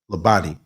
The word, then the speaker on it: Labadi: Okay, Labadi, Labadi.